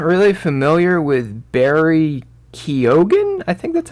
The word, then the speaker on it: Barry Keoghan: explore this character i'm not really familiar with barry keoghan i think that's how you say his name